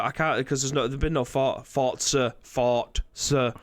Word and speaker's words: Forza: I can't, because there's been no Forza apparently is the way to say it rather than Forza. I've been saying it wrong for the last 20 years.